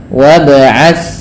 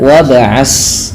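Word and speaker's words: وَابْعَثْ: wab wabat wabat fihim hati-hati di dalam membaca huruf tsa ya ini tidak boleh Terganti dengan bunyi suara Sin beberapa kesalahan yang terjadi di dalam membaca huruf ta adalah menggantinya dengan Sin contoh bunyinya wabas nah padahal huruf T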